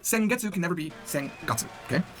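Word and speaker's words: 先月: Now you'll notice a pattern. Sengetsu. Sengetsu is last month. They both start with sen. Now, some of you remember how to say the months, right? Remember it's Ichigatsu, Nigatsu, Sangatsu, but now all of a sudden, we're using Getsu to say month.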